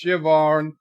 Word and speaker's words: Siobhan: Showmore says Siobhan is pronounced Siobhan. Siobhan?